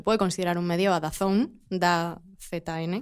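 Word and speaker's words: DAZN: da zone da zn que dicen que se pronuncia dazon Yo siempre digo Dan Yo creo que es impronunciable todavía porque al final nos enteraremos de Cómo se pronuncia dicen que the zone entonces bueno eh yo diré the zone ellos han apostado desde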